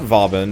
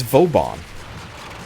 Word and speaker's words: Vauban: It's not Vauban, it's, I mean, obviously it's not Boobin. It's never been Boobin, but that's funny. But it's Vauban. Which is a fine pronunciation, but I was just kind of surprised that that was it.